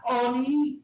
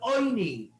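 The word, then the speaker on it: עֹנִי: Talmud Loima Lechem Oini, not Oni, but Oini. That's the way we pronounce it.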